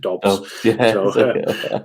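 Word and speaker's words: Doubs: I never know how to pronounce it because I thought Romeo Dubes, but everyone calls him Dobbs.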